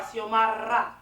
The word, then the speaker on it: Siomara: Unless you can really say it and roll your R, Siomara.